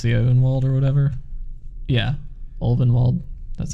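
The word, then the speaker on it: Ulvenwald: Yeah, Ovenwald, that's how you say it.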